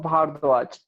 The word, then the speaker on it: Bhardwaj: The H, is it silent? It's like, how do you say it? You waving at them? He's in the chat, or he's in the. It's Rishabh. It's Rishabh Bhardwaj. Bahardwats.